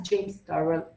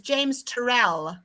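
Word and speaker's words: James Turrell: who who has realized this as impressively as james tarle of course so no one second um so just one correction to your pronunciation it's exiting exiting i said exciting okay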